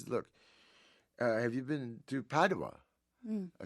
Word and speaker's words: Padova: Padova.